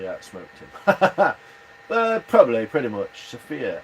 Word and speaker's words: Sophia: Sophia. Emphasis is on the O, regardless of how you spell it.